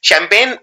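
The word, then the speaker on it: champagne: इसमें जी आता है, और 90% लोग ये वाला जी नहीं लगाते हैं, क्योंकि ये जी बोलने में नहीं आता है, ये साइलेंट होता है।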